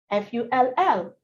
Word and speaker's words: full: F-U-L-L, full. F-O-O-L, fool. There's the disparity, the difference, it's clear.